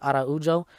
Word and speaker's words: Araujo: So the main event was number 5 ranked Alexa Grasso versus number 6 ranked Viviane Araujo, or Araujo, I think. Yeah, that's how you pronounce it, Araujo.